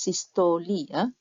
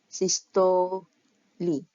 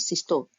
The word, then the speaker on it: systole: the atrial systole phase now this was pronounced sisterly as you can see here Sisto Li not Sisto so uh this is